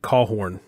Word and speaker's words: Caughron: We pronounce it Caughron. It's said a little differently than it's spelled. Technically, it's Caughron, like C-A-W-R-O-N is how you technically pronounce it, but we've always just pronounced it Caughron.